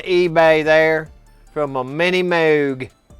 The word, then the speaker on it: Moog: They got them on the eBay there from a mini Moog. I know it's pronounced Moog, but right now I'm gonna pronounce it Moog.